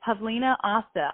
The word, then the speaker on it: Pavlina Osta: say your name and I'm like pub Leena hasta hasta like pasta I can't oh stop